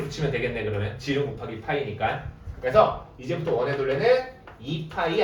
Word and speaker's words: π: 이제부터 어떻게 쓸 거냐면 요렇게 쓸 거예요 파이라고 읽으면 돼요 알겠어요 그래서 파이가 의미하는 거는